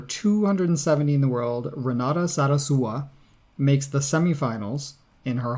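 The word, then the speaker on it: Zarazúa: in the world Renata Sara sua makes the semi-finals in her home country good pronunciation there because there's an accent on the you yes so it's not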